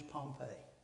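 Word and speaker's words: Pompey: the town spelled a little differently but it pronounce as his same his name is Pompei what do you think the Romans thought after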